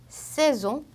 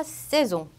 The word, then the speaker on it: saison: 모음과 모음 사이에 S가 껴있는 경우에는 Z로 읽어줘요. 그래서 rose, saison, maison, pose. 요 앞에 S는 S 발음이었지만 중간 모음 사이에 낀 S는 Z 발음이어서 saison 이렇게 되고요.